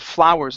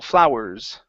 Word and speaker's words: flowers: Let's just work on the pronunciation of flowers instead of flowers. Flow. It's ow, flow, flowers.